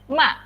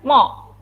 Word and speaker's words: mother: Ini jangan dibaca mother. No, bacanya ma. Mother. My mother name is. My mother's name is. Ya. Jadi pakainya a, bukan mo.